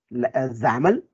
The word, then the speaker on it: XAML: written as xaml but the pronunciation is uh xaml like it rhymes as in canon and it stands for